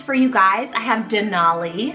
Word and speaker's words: Denali: I have Denali, spelled D-E-N-A-L-I.